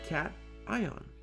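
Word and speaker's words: cation: The first type of ions we have is a positive ion or a cat ion. It's pronounced cat ion.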